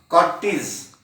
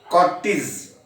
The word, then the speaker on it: cortege: You have to pronounce it as Cortes. Cortes.